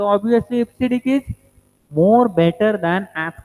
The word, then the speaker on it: EBCDIC: Now this is pronounced as EBCDIC and it is an 8 bit.